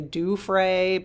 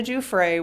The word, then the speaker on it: Giuffre: So Virginia Giuffre, it's J-O-O, the pronunciation is J-O-O Frey, F-R-A-Y. I know I've heard some people say Giuffre, but it's actually with a J, okay? So Virginia Giuffre was more than a survivor.